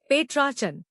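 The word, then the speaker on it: Petrarchan: पेट्रार्चन नया लफ्ज पेट्रार्चन इसको तोड़ते हैं। पेट्रार्चन जोर ट्रा पर है।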